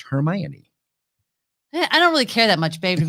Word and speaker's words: Hermione: back up the fact that the name is pronounced hermione i don't really care that much baby i'm